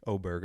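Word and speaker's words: Åberg: Like, they've been pronouncing it wrong for like, probably 6 months now that he's been on tour. And as a rookie, the guy he's so good. Ludvig Oberg, I guess is how they're supposed to pronounce it.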